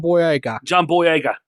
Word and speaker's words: Boyega: John Boyega posted an you pronounced it wrong, Remington. It's John Boyega.